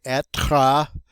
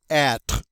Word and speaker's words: être: All right, and again, we don't pronounce that final E. We don't say être. We say être.